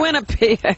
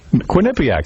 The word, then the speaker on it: Quinnipiac: show in quinnipiac yeah winnipeg quinnipiac that's how you say it it's quinnipiac yeah quinnipiac that's right